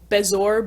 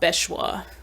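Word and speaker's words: bezoar: how to pronounce this i think it's bezour bezoir um jim dale says like bechwa which again i guess at the time nothing no pronunciation was really confirmed for him um so may be unfair to judge that pronunciation but yeah i'm pretty sure it's not bechwa um but yeah they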